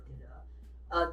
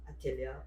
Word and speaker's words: atelier: I know some of you asked like how in the world we came up with the name Craft Atelier.